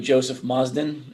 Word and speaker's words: Joe Mozden: uh from gmail investing um we're here with joseph mazdan is that how he pronounced your name joe it is but i'll